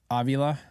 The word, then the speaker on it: Avila: Rams would take um not that they took evilia right is that how I pronounce it Avila yeah I don't think they were gonna take